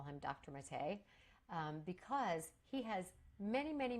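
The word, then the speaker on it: Maté: is Gabor, I don't know, Gabor, and it's Mate, M-A-T-E, with the little French thing on the E. So, jokingly, lovingly, I call him Gabermate. That's not how you pronounce it.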